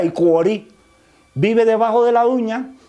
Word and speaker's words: Iporí: Se escribe Iporí, pero se pronuncia Icuorí.